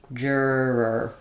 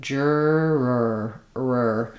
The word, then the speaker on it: juror: We have jur syllable stress. So I'll write that like jur and then letters o r unstressed. So we have another sound. So jur jurer. And what's difficult there is that when I go from the first to the second, I have to drop and restart like jurer.